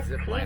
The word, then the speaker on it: ti: Next, coming up to my right though, we have our tea leaf patch. Now it's not to be confused with the tea that we drink. This one is spelled T-I.